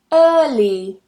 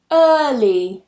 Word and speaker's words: early: Another one, early, early. Again, I'm not pronouncing that R.